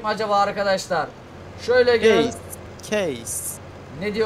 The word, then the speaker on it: Case: Hadi oğlum çıkartabilecek mi acaba Arkadaşlar şöyle giy keys ne diye okunuyor Case Evet Tamam Oha oğlum bu ne erkek şu